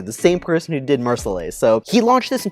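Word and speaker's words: Mer Soleil: I butchered that pronunciation in that video. I was calling it Mersoleil. It's Mersoleil Chardonnay Reserve.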